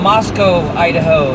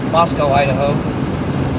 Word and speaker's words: Moscow: so we're closing on Moscow, Idaho. That's Mos O with an O and not a cow. Cow is in Russia. O is in Idaho. Moscow, Idaho.